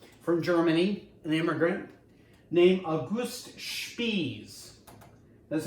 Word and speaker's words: August Spies: And so you have a rally going on, and there's a fiery anarchist from Germany, an immigrant, named August Spies. That's how he pronounces his name.